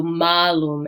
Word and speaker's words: malum: be really important uh for our apple word there is going to be that long a so malum and mala versus malus and mala it's slightly different pronunciation all right and can